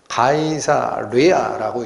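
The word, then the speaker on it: Caesarea: 가이사의 어떤 영역이라는 에어리어, A를 빼버리면 가이사레아라고 읽습니다.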